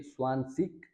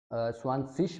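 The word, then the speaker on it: zwanzig: तो ये स्वानसिक अगर बोलेंगे वो भी ठीक है ऑस्ट्रिया के हिसाब से, अगर जर्मन के हिसाब से स्वानसिश बोलेंगे तो वो भी ठीक है, और जर्मन में ज़्यादा स्वानसिश ही बोला जाता है।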